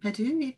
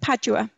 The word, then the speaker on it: Padua: um nicole asks about the botanical garden in perdue usually i don't know if i'm pronouncing that what's that padua yes yes how was it arranged at that